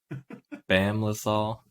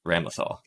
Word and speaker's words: Ramlethal: Bam Lethal, like Bam Lethal, but I think they pronounce it Bam Lethal something. Bam Lethal Valentine? I'm seeing Ramlethal. Ramlethal? Yes, Ramlethal.